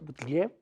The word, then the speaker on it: Buttigieg: Nadie veía a Biden tan abajo y a Sanders tan arriba, y sobre todo a Buttigieg, así se pronuncia, Buttigieg, ¿yeah?